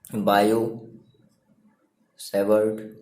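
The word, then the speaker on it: Biot–Savart: तो आपने कहा बाय using बायो सेवर्ट लॉ, ठीक है। यहाँ पर टी जो है आपका वो साइलेंट होता है।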